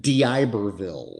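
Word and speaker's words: D'Iberville: on September 20th and what's the can you pronounce for me the name of the city I can it is in Diberville yes which is your Diberville Mississippi which is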